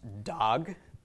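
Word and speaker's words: דָּג: Okay, dalet makes the sound of the letter D, comet's makes the short A sound, and gimel makes a G. So this is pronounced dog.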